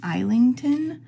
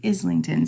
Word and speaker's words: Islington: um by James Islington I keep wanting to pronounce his name isington cuz it's spelled like i s l i n you know um which